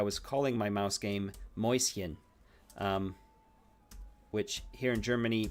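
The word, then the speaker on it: Mäuschen: calling my mouse game moisin um which here in Germany means means Little Mouse um and it's pronounced moist like moist without the T and then hien like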